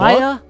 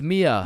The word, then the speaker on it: Mia: Maya? Is Maya present? It's Mia. Wow, quite the name you got there. It's spelled kind of weird, no? No, it's not. It's literally 3 letters.